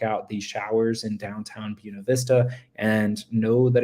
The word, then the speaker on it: Buena Vista: sure you check out these showers in downtown Buena Vista and know that it's pronounced Buena Vista that if you get there and you say